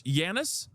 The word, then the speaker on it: Giannis: Let's get into some conversations because we've been talking about the G is silent. I didn't know that. So it's Giannis. Oh, Jesus.